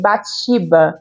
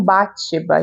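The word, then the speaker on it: Bathsheba: Eu sempre pronunciei Batsheba Everdeen, mas eu assisti a adaptação outro dia e na adaptação eles falam Batsheba, então vamos tentar ali dar uma melhorada na pronúncia.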